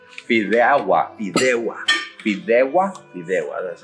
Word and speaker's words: Fideuá: Fideuá. Fideuá. Fideuá. Fideuá. Fideuá. That's how they Fideuá.